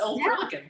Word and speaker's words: Old Perlican: Did I pronounce that right? Yes, Old Perlican.